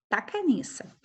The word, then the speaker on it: Tacaniça: Tacaniça se escreve T-A-C-A-N-I-C cedilha A. Tacaniça.